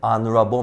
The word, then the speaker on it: honorable: Para um homem honrado, an honorable man. Então, palavrinhas iniciadas com H. O H, ele não é pronunciado, então o som vai ficar de vogal e você vai colocar o N na frente.